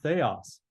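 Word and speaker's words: θεός: learn we learned that that's called a Theta and it makes a th sound and the rest of this is pretty easy and e sound and o sound and an S so Theos but you can see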